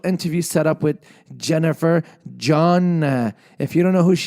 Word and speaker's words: Cheon: And that's how her name is pronounced, is John. I hope I'm saying it correct. I know it's spelled Cheon, Cheon, but it's John.